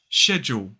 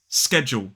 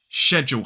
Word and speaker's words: schedule: So technically, in a modern British RP accent, we would say sh, whereas in American English, it's sk.